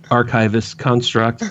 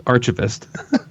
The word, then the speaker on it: Archivist Construct: Uh, it's the band Archivist Construct, but you may but but you guys may remember them as Archavist.